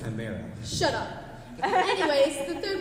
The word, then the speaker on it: chimera: It's the chimera. That's right. Actually, it's pronounced chimera.